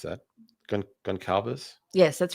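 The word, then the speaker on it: Gonçalves: Cuz I wanted to see How How do you pronounce that? Gon- Goncalves?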